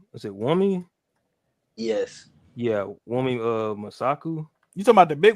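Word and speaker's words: Wunmi Mosaku: I forget how to pronounce her name, bro. Is it Wumi? yes, Yeah, Wumi Masaku.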